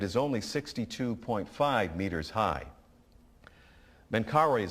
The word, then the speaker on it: Menkaure: Menkaure is spelled M-E-N-K-A-U-R-E.